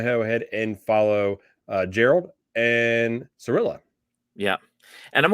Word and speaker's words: Geralt: one of our viewers it's a hard g so it's gerald oh it's geralt okay